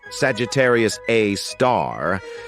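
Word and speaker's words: Sagittarius A*: an exception we've got Sagittarius A which is pronounced Sagittarius A star this space monster is mostly dormant and rarely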